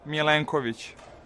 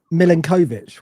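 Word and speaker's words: Milenković: milanovic I think so I said to you I say it like the generic English football fan and you say it like uh well I was saying milinkovic wasn't I and people were going no it's minkovich but when you listen to him saying it it's kind of halfway so I don't know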